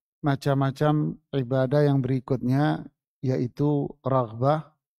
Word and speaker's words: raghbah: Ingat, membacanya raghbah bil ghain, pakai ghain, raghbah.